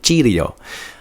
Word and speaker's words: Chio: as simply Shido or it looks like C Leo if you look at it but I read the Katakana to get the pronunciation so we're going to go with Chio um it is literally